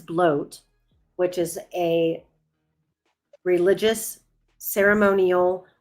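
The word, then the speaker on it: blót: Um I know that it reads blot, but it it is pronounced as bloat, which is a religious ceremonial offering.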